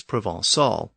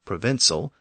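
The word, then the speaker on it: Provençal: as a synonym is provol or provinal depending on your pronunciation it was once used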